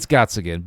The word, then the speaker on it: Gottsagen: I'm saying it wrong. It's Gottsagen, but he's playing off like,